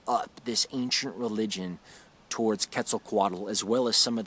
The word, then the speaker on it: Quetzalcoatl: i'm pretty sure to quetzalcoatl i know i don't pronounce that as an aztec probably would have or a mayan or or whatever the original language was quetzalcoatl the the ancient mexican